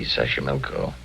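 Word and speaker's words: Xochimilco: me City Tao pbla sash Sashi milco okay so you pronounce it better than I do easy Sashi milco that's where the streets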